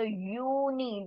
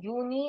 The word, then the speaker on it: Juni: But how do we pronounce it? It's Juni, because J sound will be the year sound. O, N, and then I is called as E. So Juni. This is not Juni or Junai. This is Juni.